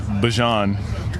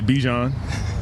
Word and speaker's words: Bijan: How you pronounce my name is Bijan for everybody that's out there. I know a lot of people say Bijan, but it's Bijan.